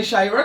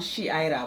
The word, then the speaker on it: Shira: Hi, Shyra. Good morning to you. Good morning. Am I pronouncing that correct? No. I can't hear you with the mic. My name is um Shira. Shira.